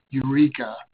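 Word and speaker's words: EUREC4A: the four seas there give it the name eureka we pronounce that you recover the greek for egg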